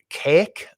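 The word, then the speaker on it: Kazik: goes to the men and blacks planet of cake which is how it's pronounced k-a-z-i-k um it's a weird book he's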